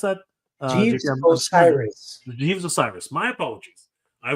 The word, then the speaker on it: Osiris: but um uh J je Jes or right osaris how do you can you pronounce that Osiris Jes Osiris my apologies I was I was